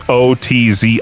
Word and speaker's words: Ötzi: It's Otzi, and discovered ancient yeast strains that could actually be cultivated.